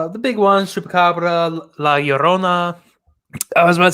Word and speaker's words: Llorona: Spanish, not really, but 2 L's is its own letter, and it's like a y. So it's A B C D E F A La Llorona. Llorona. Ya Llorona. Yeah, I can't do that. I'm white as shit. So Llorona. Instead of saying La Rona, say Llorona.